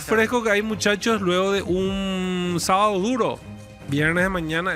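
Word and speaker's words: d'Eu: ¿Cómo se pronuncia? Deu. Deu.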